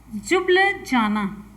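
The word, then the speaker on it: Ljubljana: Slovenia की राजधानी है, चलिए यहाँ पे लिख देते हैं, कुछ प्रोनाउंसिएशन होते हैं, जुब्लजाना।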